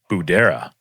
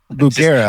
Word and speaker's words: Bugera: Budera. But it's a G. Bugera.